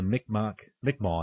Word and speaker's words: Mi'kmaq: Basically, the Mi'kmaq is actually how they say it, right?